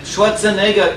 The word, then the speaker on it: Schwarzenegger: is Arnold Schwarzenegger movie Schwarzenegger is tough if you can pronounce shorts and a girl you can pronounce window